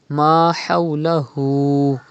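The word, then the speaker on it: ما حوله: Pronounce Ha from the middle part of your throat. Do not read Ma hawlahu, but Ma hawlahu. And stretch ulta pesh on Ha. Ma hawlahu.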